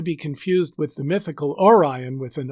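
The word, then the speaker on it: Arion: in act 1 scene 2 line 15 the name a-r-i-o-n is pronounced orion as the note in the riverside edition has it orion a greek poet and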